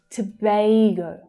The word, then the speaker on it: Tobago: Tobago, Tobago. That's the A as in day vowel sound.